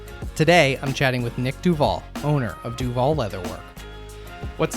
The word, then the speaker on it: Duvall: of your last name i say duvall it is duvall okay it's not duval oh good all right